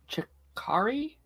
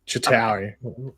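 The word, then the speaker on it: Chitauri: Earth in The Avengers the chakari I I think I'm saying it right the Shakari yeah I know what you mean chitari yeah I thought it was chakari as well realiz that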